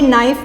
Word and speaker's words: knife: अब आप देख रहे हैं लेकिन इसके स्पेलिंग में हम एन से पहले के भी लिखा हुआ है। तो कुछ लेटर्स ऐसे होते हैं जो साइलेंट होते हैं, जो लिखे तो जाते हैं लेकिन वो पढ़े नहीं जाते, बोले नहीं जाते। तो हमने नाइफ में KNIFE लिखा, लेकिन पढ़ेंगे हम इसको नाइफ।